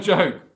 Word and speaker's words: Joke: And it's pronounced Joke. Sigmunds Bergen. Sigmunds Bergen. And your name is... is it Yoke? Do you not pronounce the J?